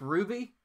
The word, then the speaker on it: RWBY: Say it like Ruby. RWBY stands for Ruby.